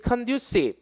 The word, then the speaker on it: conducive: is conducive. 여러분 이거 구분하세요. 이게 conduct가 원래 수행하다잖아. 이게 시행하다. 근데 스펠링 달라. conducive입니다. conductive가 아니라.